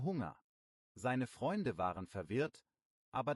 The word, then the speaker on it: Hunger: Ein Hörer hat mal gesagt, ich habe Hänger, statt ich habe Hunger.